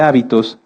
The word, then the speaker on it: hábito: muchas definiciones de hecho si cambiamos el acento de la palabra hábito lleva acento en la a se refiere a esto a nuestras costumbres y si lo cambiamos hacia el final es habitó que viene de habitar fíjense que cómo en